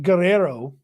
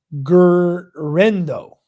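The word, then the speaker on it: Guerendo: I think it's Guerrero, isn't it? I don't know if Sarah spelled it wrong or I'm saying it wrong. But he was fast. Yeah, it's not Guerrero. Guerrendo. Yeah, she spelled it right. I said it wrong. Guerrendo.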